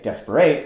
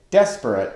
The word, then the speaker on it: desperate: We don't say desperate, we say desperate with the first syllable of the word accented, as in this line.